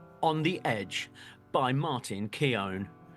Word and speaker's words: Keown: Keon o so am I saying that name wrong Johnny well yeah you are and I I didn't know I didn't know that how how didd you say it it's like gown I guess is how he explained it because you